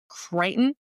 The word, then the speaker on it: Crichton: Michael Crichton.